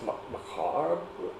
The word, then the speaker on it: macabre: Because there are two pronunciations. There's the Macabre. macabre. Yeah. I said it about that, right? But there's also the American pronunciation.